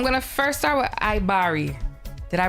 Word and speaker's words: Ibaria: cool so I'm going to first start with iari did I pronounce that correct yes yes bless all right